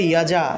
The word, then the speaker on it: যজা: তারপরে দেখুন অন্তস্থ জ আছে, অন্তস্থ জয়ের সংস্কৃত উচ্চারণ হলো ইও। ঠিক আছে, এই যে অন্তস্থ জফলা, এই অন্তস্থ জয়ের সংক্ষিপ্ত রূপ হলো এই জফলা, অর্থাৎ অন্তস্থ জয়ের সংক্ষিপ্ত রূপ হলো এই অন্তস্থ জফলা। ঠিক আছে, তাহলে জফলার পরিবর্তে ইও উচ্চারণ করি, তাহলে অন্তস্থ জয়ের পরিবর্তেও ইও উচ্চারণ করতে হবে। তাহলে যজা আছে, উচ্চারণ হবে ইয়াজা, ইয়াজা।